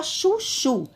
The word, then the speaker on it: chuchu: Outro exemplo, a palavra chuchu. Vamos chamar o nome chuchu. Chuchu. Então, a sílaba mais forte nessa palavra foi a última sílaba, o chu, porque eu falei com mais força, tá bom?